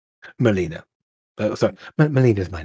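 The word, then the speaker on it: Melena: a what was your name Molina but sorry Molina is my name can you spell that Jim please just m-e-l-e-n-a Molina thank you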